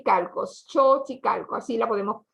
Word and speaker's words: Xochicalco: la equis nosotros no vamos solos y calcos xochicalco así la podemos pronunciar xochicalco está repleta de mexicanos y turistas